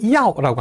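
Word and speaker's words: 要: 이 발음 기관이 멈추지 않고 한 번에 발음된다라고 했으니까, 예를 들어서 필요하다라고 할 때 야오라고 합니다. 그걸 갖다가 이, 아, 오, 우 이렇게 끊어서 발음하는 게 아니라 합쳐서 야오 이름절로 발음해야 돼요.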